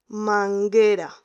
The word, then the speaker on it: manguera: Después manguera, tenemos M-A-N-G-U-E-R-A. Manguera, G-U-E. No pronunciamos la U, no decimos manguera, decimos manguera. La U sirve para decir el sonido G, manguera.